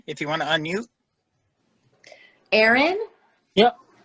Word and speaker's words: Aaron: you want to unmute aaron yep how do i spell it a-a-r-o-n because aaron spelled different ways yep two a's r-o-n or any people call me a-a-ron i get that a lot okay so a a